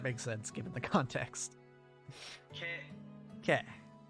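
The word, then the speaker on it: ケ: Ke. It's the consonant followed by a vowel, pronounced ke, like in cat, or, what's another example?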